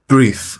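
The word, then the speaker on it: breathe: اضافه بشه کنت نمی‌تونم بریث نفس کشیدن دقت کنید بریث د تا تلفظ داره اگر اسم باشه فعل نباشه یعنی به معنای نفس باشه برث تلفظ میشه اما وقتی میخوام بگم نفس کشیدن وقتی که فعله باید بریف تلفظ بشه بچه‌ها B نمیتونم نفس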